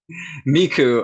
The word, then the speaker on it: Micu: when did this brand I'm so what's the pronunciation of it Miku oh I can explain that story too yeah